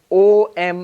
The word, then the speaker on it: Om: But luckily, fortunately, when you write it as O-M in English, that's actually the correct pronunciation.